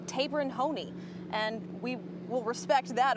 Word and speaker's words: Taberon Honie: name from his mother she's corrected our pronunciation it's tabin Hony and we will respect